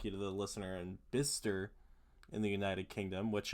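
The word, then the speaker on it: Bicester: A big thank you to apparently Bister United Kingdom. It's pronounced Bister. I'd like to give a thank you to the listener in Bister in the United Kingdom, which uh is spelled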